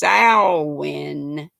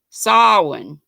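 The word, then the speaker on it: Samhain: pond call halloween and it's not pronounced anything like it looks spelled s-a-m-h-a-i-n but pronounce salwin like a pig sal or is it saw sawin i think sawin during silent what did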